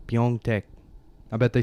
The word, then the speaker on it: Pyeongtaek: No, I looked up Pyeongtaek. Pyeongtaek? Bet you can't spell that.